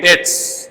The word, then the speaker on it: debt: Now you note this word DEBT, the pronunciation there, debt. The B पर silent है.